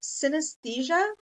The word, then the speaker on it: synesthesia: a look at this word um it is pronounced synesthesia um and uh it is what we are